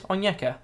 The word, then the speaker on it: Onyeka: Ooh, Rulebreakers Onyeka. Well, that's not how you say it. Yeah, it is. Onyeka.